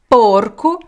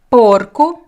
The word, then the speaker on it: porco: Feminine is open sagra sagra one more example porcu Porco Parker so this is the animal so you